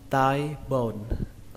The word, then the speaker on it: thigh bone: Từ đầu tiên các bạn đọc là thigh bone, thigh bone. Các bạn lưu ý là cái từ này nó ghi là âm thờ, nhưng mà cách đọc của chúng ta là âm tờ các bạn nhé. Và cái từ này nó đọc là tai, giống như là cái tai trong tiếng Việt. Tai, tai bồn, tai bồn, tai bồn.